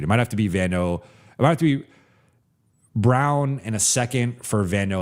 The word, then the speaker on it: Braun: And uh his name always throws me off. It's Brown, but the it's spelled like Braun, but yeah, you could do I think you maybe get a second for him.